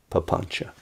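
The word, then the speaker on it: papañca: ch in in poly p a p a n c a papancha story of your life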